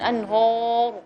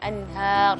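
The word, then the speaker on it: أنهار: Terus lama yatafajjaru minhul anhar, dan anhur, bukan hur, dia anhar, semua tipis.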